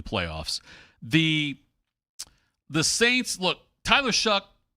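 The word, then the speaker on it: Shough: The Saints, look, Tyler Shuck, who's got a weird pronunciation of his name, but that's fine. It's supposed to be Tyler Show, but nonetheless, Tyler Shuck.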